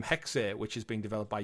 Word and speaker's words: Hexe: Assassin's Creed code name hexe so we were saying hex but it literally they do pronounce the E on it hex um following on